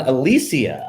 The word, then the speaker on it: Alesia: beat the bookie podcasts DFS Army's own Alicia I just learned that that's the correct pronunciation of your name and I am your